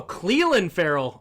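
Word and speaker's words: Clelin Ferrell: for the Jets oh Cleland Ferell is how you say not Clen Cleland Ferell didn't know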